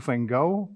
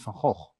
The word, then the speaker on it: Gogh: Vincent, it's Gogh in Dutch, which is absolutely impossible to pronounce for many other people.